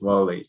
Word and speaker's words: Wall-E: want to make sure am I saying it right is it Wall-E yeah it's Wally yeah Wally okay so um Franchesco